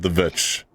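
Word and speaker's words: The VVitch: And he said The Vitch. So big win for you. So, I mean, that is clearly a V.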